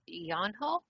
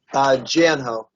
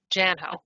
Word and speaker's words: Janho: Next is Yanho. Is that the proper pronunciation? If it's not, please correct me. Janho. Janho. Okay, thank you.